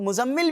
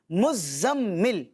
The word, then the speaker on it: مزمل: اس کو لوگ مزمل بھی بولتے ہیں، لیکن مزمل اس کا درست تلفظ نہیں، بلکہ زا جو ہے نا اس کے اوپر تشدید ہے، مزمل، ٹھیک ہے؟